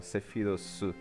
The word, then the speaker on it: Sephiroth: Porque o TH, esse som de língua entre os dentes, né, que é da língua inglesa, tem um jeito mais fácil de pronunciar, por causa da pronúncia japonesa, que se escreve com SU no final, Sephirosu. Só que o E cortado fica só Sephirosu, então eu acho mais prático.